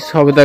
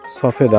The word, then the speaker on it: সফেদা: এরকমভাবে এই সবেদা গাছটা সমস্ত জায়গায় এরকমভাবে সবেদা হয়েছে দেখেন অবস্থা সবেদার সফেদা হবে উচ্চারণ সফেদার অবস্থা দেখেন এবং